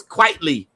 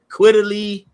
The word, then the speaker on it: Frank Quitly: I used to call him Quietly, Quiddly, you know. I I I didn't know how to pronounce this fool's name. And he was like, "No, it's Quietly." It's like, you know, quite frankly, but Frank Quitly.